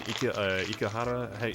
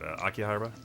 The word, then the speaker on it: Akihabara: Like I was in Ikehara. How do you say it? Akihabara.